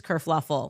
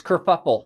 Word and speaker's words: kerfuffle: Prince Harry abdicates England, causes this whole race kerfluffle. Oh, no, it's kerfuffle. We knew a kerfluffle happened. Kerfuffle. Because I say kerfuckle, and people always try. I'm like, no, it's kerfuckle.